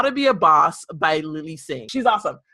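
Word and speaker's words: Bawse: And her book, How to Be a Boss, it's spelled B-A-W-S-E, is so amazing.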